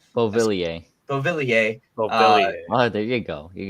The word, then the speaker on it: Beauvillier: Beauvillier.